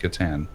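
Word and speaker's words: Catan: by one dream thief hello and it's still pronounced katan wow that wasn't even in the video i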